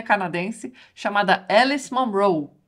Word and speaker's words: Munro: livros dela por aqui o pessoal chamando o sobrenome dela de munro Alice munro né mas não gente é monro mesmo tá é mesma a